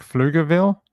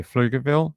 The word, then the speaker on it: Pflugerville: Let me find out how you pronounce this word and where it's close to. Okay, so like Pflugerville. Okay, Pflugerville.